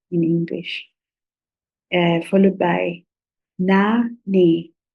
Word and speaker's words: nane: Followed by Na Ne. Na Ne.